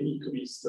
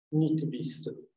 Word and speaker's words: Nyquist: Allora, innanzitutto, diciamo, dove ho usato le citazioni, in teoria il suo nome si pronuncerebbe Nyquist, non so se ve lo ho detto. Nyquist, perché lui era svedese, se non mi sbaglio, uno svedese naturalizzato americano.